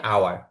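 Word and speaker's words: hour: এইচ ও ইউ জি আর, এটার উচ্চারণ হচ্ছে আওয়ার।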